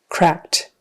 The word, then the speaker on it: cracked: usually cracked cracked um a lot of our past tense verbs have Ed on the end and most of them don't make that its own syllable we just add a consonant for instance on this one it's just the sound T instead of saying cracked we say cracked um and the reason